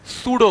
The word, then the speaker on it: pseudo: सूडो force, ठीक, P silent है, तो सूडो फोर्स।